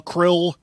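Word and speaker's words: Crill: in captivity krill krill shrill shrill pronounced c-r-i-l-l krill krill must exterminate the dalek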